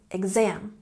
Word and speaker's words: exam: Emphasize the second syllable, exam.